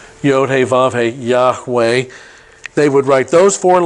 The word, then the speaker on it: Yahweh: vow of the hey in the father we pronounce it Yahweh when they came to that word in the